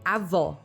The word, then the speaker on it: avó: For example, in Portuguese, to say grandmother, we say avó, and to say grandfather, we say avô. For Portuguese speakers, there is a huge difference between these two words, avô and avó.